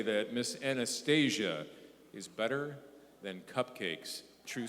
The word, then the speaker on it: Anastasia: miss Anastasia and it is pronounced Anastasia believes in the enchanting power of children's books